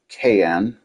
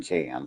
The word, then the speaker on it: Cayenne: Then there's this Porsche Cayenne. I know it's supposed to be pronunciated Cayenne, but I'm saying can.